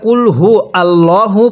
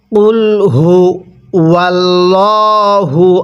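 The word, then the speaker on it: قُلْ هُوَ ٱللَّهُ: আমরা একটা বড় ভুল করে থাকি যেটাকে আমরা কুলহু আল্লাহু পড়ি এখানে কুলহু আল্লাহু পড়বো না এবং এই গোল হা গুলো উচ্চারণ করার সময় আমরা কুলহু অর্থাৎ মুখ দিয়ে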